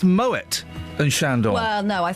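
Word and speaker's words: Moët: You say Moet et Chandon. No, sorry. The French call it Moet as well.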